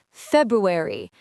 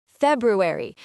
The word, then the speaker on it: February: Many people say February, but the correct way is February. You need to pronounce the R slightly.